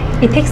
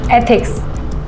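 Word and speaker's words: ethics: इथिक्स नहीं, एथिक्स ऐसे pronounce करो।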